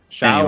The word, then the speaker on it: Shough: Yeah, Tyler Show or Show. You're really good at pronouncing names.